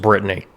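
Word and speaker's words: Bretagne: years have guessed that this is supposed to be pronounced Britney yeah with a name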